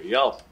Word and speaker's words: Yelp: Yelp. Rhymes with help.